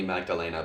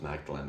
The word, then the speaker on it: Magdalene: I think it's properly Magdalena, but everyone says Magdalene or something.